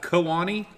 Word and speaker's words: Kewanee: Kewanee? I looked it up. It's pronounced Kewanee.